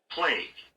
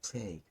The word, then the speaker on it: plague: be PL good play I always forget the pronunciation of this world argue and play you play you plag no no you plag plag plag plag plague plag and I be pled pled by this